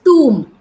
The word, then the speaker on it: tomb: different pronunciation Tom it's tomb the B is silent yes yeah it is